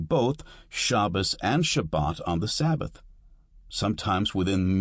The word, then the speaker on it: Shabbat: An example is Shabbat, Sabbath, with the accent on the second syllable.